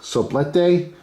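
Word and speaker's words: soplete: pronounce anything including English it's spelled s-o-p-l-e-t-e I want to say it's so blete which translates basically to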